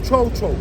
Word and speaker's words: cho-cho: All right, so this one's called a cho-cho.